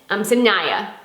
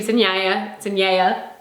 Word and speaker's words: Sinaia: on a train and went 4 hours to the next city, which was, I have it pronounced, so I'm gonna say it right. Maybe I'll say it right. Sinaia. Sinaia.